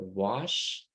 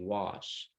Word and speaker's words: wash: be six in a word wash you said was it's supposed to be wash um breakfast you said